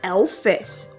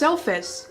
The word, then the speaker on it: Elvis: not a shock rocker said elfis it's Elvis no it's Elvis isn't he like some sort of elf-like creature it's pronounced Elvis and anyways he's actually